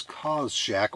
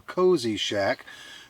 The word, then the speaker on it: CozShack: and a one Tigress cause Shack or cozy Shack depending on how you want to pronounce it uh going to be